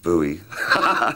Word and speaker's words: Bowie: I've lost track uh I always thought it was Bowie I thought what is a Scottish name must be Bowie but nobody in Scotland pronounces it like that pronounce it boo with it was some